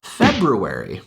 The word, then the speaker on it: February: So this is another case in which the R in the middle of a word is being omitted to make the pronunciation a little bit easier.